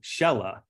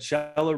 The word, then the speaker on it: Shehla: So I wanted to introduce you to Shella, who I am always afraid. She told me it rhymes with Stella and it still scares me, but Shella.